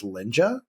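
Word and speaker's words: Lynja: um it is um one called cooking with linja and it's spelled c oh yeah k i n g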